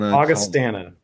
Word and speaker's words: Augustana: Augustana.